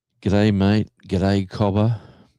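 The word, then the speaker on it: cobber: Good day, Cobba. Like that's the next one, you know, like uh Cobba. C O B E R. Uh pronounced Cobba.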